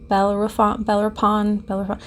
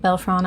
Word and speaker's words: Bellerophon: So there was this Greek hero, Bellerophon, I think is how you say it. Bellerophon. It's a PH in some.